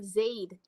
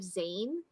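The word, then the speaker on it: Zayde: not not only do we have Zade instead of zann right it's not Zade Den it's Zade we've got a great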